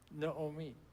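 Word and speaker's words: נעמי: But if you say it the Israeli way, ding, ding, ding, that person knows Hebrew. Naomi.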